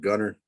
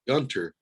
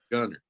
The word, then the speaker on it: Gunter: 30 minutes north called gunner texas and if you pronounce the gunter i knew you were out of your your area because we pronounced gunner you know like but